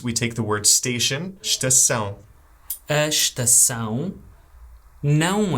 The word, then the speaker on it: estação: Notice how even though the word starts with es, we don't say that first e. We don't say estação, we always say estação. So we kind of ignore the e and we just go right to the s.